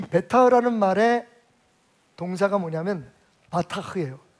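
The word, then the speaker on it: בטח: 베타흐인데, 이 베타흐라는 말의 동사가 뭐냐면 바타흐예요. 자, 이 단어는 여러분 기억합시다. 따라하겠습니다. 바타흐. 뒤에 흐는 약간 이렇게 숨소리를 내서 언제 제가 SM에 가서 한번 훈련을 받아야 될 것 같아요.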